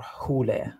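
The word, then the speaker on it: ὕλη: Mani himself uses this term interchangeably with the hile, or hule, right? It would be the correct pronunciation of the Greek word, which literally translated as the matter.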